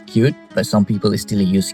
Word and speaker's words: Qt: Qt, pronounced as cute, but some people still use Qt just like myself, is a C++ framework that lets you build applications for literally everything.